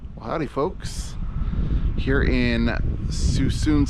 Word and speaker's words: Suisun: Howdy folks, here in Suisun City, I think that's how you say it, S-U-I-S-U-N, Suisun City.